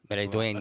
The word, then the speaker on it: Maridueña: Meridueña. That's the best. Say it name. again. All right. Say it. Meridueña. Maridueña.